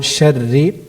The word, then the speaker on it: شر: If you can pronounce the letter Ra, which is coming on the word Sharri, more lightly.